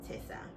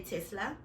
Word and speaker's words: Tessa: Speaking of Michaela Tessa, right? I always want to say Tesla because it's spelled similarly except without the L.